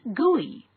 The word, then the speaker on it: GUI: GUI stands for Graphical User Interface and is pronounced GUI.